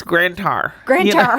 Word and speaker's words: Grand Tower: and you know you said it wrong it's grandar grar I got to work on that sorry grar